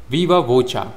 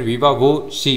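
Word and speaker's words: viva voce: विवाचा इसे आप विवाचा कह सकते हो या फिर विवाशी भी कह सकते हो। विवासी कहो या फिर विवाचा कहो। दोनों प्रोनंसिएशंस सही हैं।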